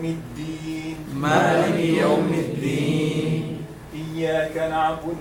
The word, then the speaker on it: الدين: So a dal should be separated from a ta. Do not say Malik Yawm al-Teen. Some people they are pronouncing like teen, and this is not right. Malik Yawm al-Din.